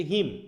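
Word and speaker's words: hymn: উচ্চারণ কিন্তু হিম হয় সি ম, ঠিক আছে তো? এনের উচ্চারণ কিন্তু হবে না, মনে থাকবে, এখানে হিমস হয়ে যাবে।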